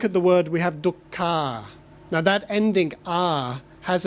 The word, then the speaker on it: dukkha: you how would you say that in Thai talk talk circle - okay so that is okay that's Thai pronunciation it's fine if you understand the meaning but look at the word we have duck car now that ending our has a particular meaning